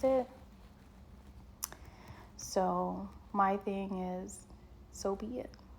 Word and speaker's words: Sobie: for the fact that it's so B, but it's spelled so o i e. And it's fitting for me because my motto is so be it.